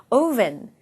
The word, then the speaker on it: oven: 걔를요, 오븐이라고 하지 마시고요. oven. 네, 이렇게 발음을 해주셔야 되겠습니다.